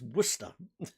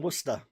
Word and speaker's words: Worcester: It's Worcester. The US hates saying Worcester. Yeah, you don't pronounce the Cester.